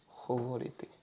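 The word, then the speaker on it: говорити: Donc, en ukrainien, le H s'écrit de cette façon-là. Alors, c'est un H, mais c'est aussi un peu un G. On va dire que c'est un mix entre le G et le H.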